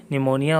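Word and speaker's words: pneumonia: silent हो जाता है जिसे P N-you M ओ एन ई पपिया गया इससे पहले आ गया एंटर पहले आ गया तो यह क्या हो गया साइलेंट हो गया निमोनिया हो गया यह मोनिया है नहीं निमोनिया हो गया ठीक है इसी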